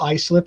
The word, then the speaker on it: Islip: York places, and so like I said Islip instead of Islip or whatever, oh sure.